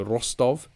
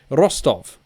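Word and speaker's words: Ростов: say p o p-o-c-t-o-b obviously that is not how it's pronounced i think first of all it's the rostov uh p is an r and the c is an s so rostov rostov maybe that is it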